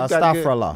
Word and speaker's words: Astaghfirullah: Astaghfirullah. Brother. Am I saying that one right? First and foremost. First and foremost, yes. you got it pretty.